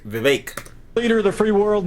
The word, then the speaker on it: Vivek: back we've done both we can't sing his name wrong too by the way is fake like cake Vivek leader of the Free